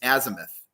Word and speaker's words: azimuth: And you were correct in the last pronunciation. It's azimuth.